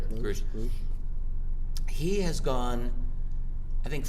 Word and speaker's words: Grusch: What's interesting though is this latest whistleblower, David Grush, I think his name is pronounced Grush.